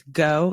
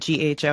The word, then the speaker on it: GHO: the stable coin is go it's not gho I think Dan and I both said gho it's just go okay if you're a